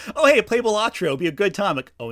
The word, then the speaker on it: Balatro: Was it Boldero? Is that how you say it? Balatro. Balatro. There we go.